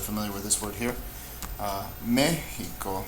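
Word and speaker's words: México: Mexico, me is the louder syllable, it's estrujula, we'll mark it.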